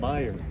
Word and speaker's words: Meijer: Nigga, the J is silent. Meijer.